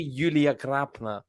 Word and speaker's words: Julia: time sorry I'm late I've just been perfecting how to actually say her name it's actually Yulia uh but yeah hopefully